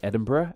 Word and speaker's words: Edinburg: the capital of Scotland its name lacks an H on the end so instead of being pronounced as Edinburgh as is in Scotland